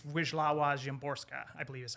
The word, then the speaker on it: Wisława Szymborska: But I think it's Wisława Szymborska, I believe is how you say her name.